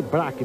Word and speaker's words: Brack: E é Kenny Brack, viu, Celso Miranda? Pronúncia aberta, tá certo? Exatamente, porque ele não gosta de pisar no breque.